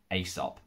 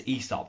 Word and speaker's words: Aesop: brand has to be aesop also known as esop this really depends where in the world you live it's how you pronounce it um this is not